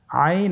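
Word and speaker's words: عين: আইন হরফটি উচ্চারণের সময় অবশ্যই তিন আলিফ টেনে পড়তে হবে।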